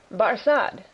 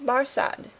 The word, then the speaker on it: Barsad: so much the better his name barad said defar making it French by pronunciation but he had been